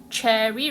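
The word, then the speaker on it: chary: Cherry rhymes with wary, not the fruit.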